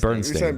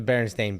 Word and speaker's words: Berenstain: We said Bernstein. Bernstein Bears. Yeah. Yeah. It's the Berenstain Bears.